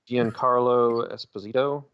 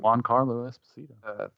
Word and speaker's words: Giancarlo Esposito: No clue how to pronounce this guy's name. Giancarlo Esposito. Oh yeah, there you go. Juan Carlo Esposito.